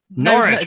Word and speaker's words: Norwich: Norwich, of course. Just forget that W.